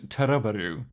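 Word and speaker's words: To Love Ru: We have started watching to love or as it would be pronounced approximately in Japanese, Turaroo.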